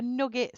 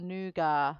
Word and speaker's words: nougat: A nugget slab, nugget or nougat, whichever. I'm not posh, so I say nugget. Nugget slab. Nougat. Some people say it different. I say it like that.